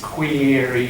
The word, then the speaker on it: queries: Queries is how you pronounce that?